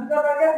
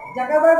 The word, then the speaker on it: Zuckerberg: এই সার্চটা দিলাম মার্ক জুকারবার্গের নামে বানানটা, ঠিক আছে? MARK মার্ক ZUCKERBERG, তাহলে এটা কি হবে? জাকারবার্গ হবে না জুকারবার্গ হবে? জুকারবার্গ।